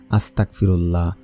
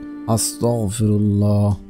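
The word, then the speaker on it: أستغفر الله: আর ইস্তেগফার পড়ার ক্ষেত্রে অনেকেই ভুল করে থাকেন এভাবে পড়েন আস্তাগফিরুল্লাহ আস্তাগফিরুল্লাহ আস্তাগফিরুল্লাহ এভাবে পড়বেন না আপনারা পড়বেন আস্তাগফিরুল্লাহ আস্তাগফিরুল্লাহ আস্তাগফিরুল্লাহ এভাবে পড়বেন উচ্চারণ ঠিক রেখে পড়বেন তারপরে হচ্ছে আপনারা পড়ে নেবেন এই দুটি জিকির।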